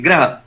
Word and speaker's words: ग्रह: तो जब हम बोलेंगे तो हमारा बिल्कुल स्पष्ट उच्चारण होना चाहिए ग्रह। तो ग्रह के मतलब ये है कि हम प्लेनेट की बात कर रहे हैं, और गृह की अगर हम बात करें गृह, तो हम बात कर रहे हैं घर की, होम।